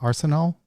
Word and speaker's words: Arsenault: kinds and my guest today is uh arsenal is that did i pronounce that right yep yep okay arsenal and she is the co-founder and chief